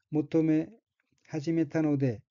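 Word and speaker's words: 求め始めたので: 둘째 줄 첫 번째 얽힌 한자가 구할 구자와 비로소 시자가 들어있고 일본어로는 모토메 하지메타노데 라고 읽으며 모토메 하지메타노데는 구하다, 바라다,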